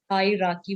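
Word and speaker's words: hierarchy: राकी बोला जाता है, इसमें एक आर साइलेंट है, हाई राकी, ये वाला आर साइलेंट है, ये वाला, इसको हाई बोलो और फिर इसको राकी, ये वाला आर नहीं बोलना। तो हायरार्की का मतलब हो गया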